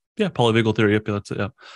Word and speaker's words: polyvagal: Am I pronouncing that correctly? Yeah, polyvagal theory.